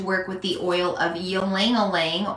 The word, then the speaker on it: ylang-ylang: Tonight I've decided to work with the oil of ylang-ylang or ilang-ilang, depending on how you pronounce it.